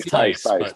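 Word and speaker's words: Theis: Oh, Danny Tice.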